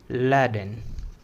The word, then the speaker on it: laden: वो बिन लादेन था ना, बिन लादेन, बस उसी का बिन को हटा दो, बचा हुआ जो है लैडन, उसको इस तरीके से प्रोनाउंसिएट करो, लैडन।